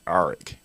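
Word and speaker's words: A'ric: to high school with a dude that was spelled a apostrophe r-i-c but he pronounced it Eric and the reason why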